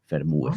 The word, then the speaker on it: FerMuBe: Yeah, only one sound in Spanish vowels. E, U, E, FerMuBe.